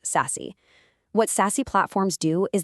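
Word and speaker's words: SASE: It's called secure access service edge or sassy pronounced sassy.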